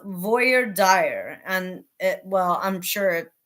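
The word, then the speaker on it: voir dire: jury to determ admissibility so it's pronounced Voyer dire and it well I'm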